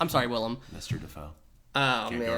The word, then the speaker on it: Willem: At one point, like, he's facing off with Willem Dafoe and Sandra Bullock's there, and then all of a sudden William, like, laughs. I'm sorry, Willem.